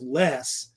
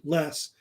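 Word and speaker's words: loess: think it's usually pronounced less l o e s s the O is silent usually less it's a type of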